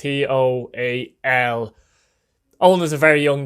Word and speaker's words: Toal: Now, number 4, I've gone for a Derry City central defender, Owen Toal, or Owen Toyle. I'm not sure how to pronounce it. I presume it's Toal. It's Toal.